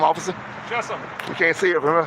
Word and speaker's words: Chessum: Chessum. We can't see it from here. How you spell it, please?